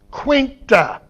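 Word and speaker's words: quainte: That word quaint, Q-U-A-I-N-T, pronounced almost exactly the same as in Chaucer's use of it in Miller's Tale. Okay? Quainta. The final E is pronounced.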